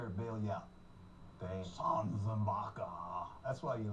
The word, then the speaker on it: Sanzenbacher: Sanzenbacher.